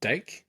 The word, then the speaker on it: Dake: And I think because the Olympic wrestler was it Kyle Dake?